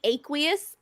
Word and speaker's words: aqueous: word aqueous in it it's actually aqueous I had to I had to look it up on how to pronounce it oh my God